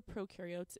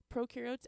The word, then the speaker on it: prokaryotes: organisms prokaryotes and eukaryotes the way to remember prokaryotes is that pro rhymes with know therefore they have no